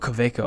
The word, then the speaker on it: Kaweco: Kaweco is a German company. The W. Oh, Kaweco. Okay. Pronounces the W.